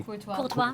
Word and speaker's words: Courtois: Golden Glove, Courtois, I think.